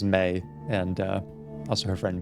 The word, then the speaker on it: Mae: Thank you, by the way, everyone who let me know that the pronunciation is May, and also her friend B.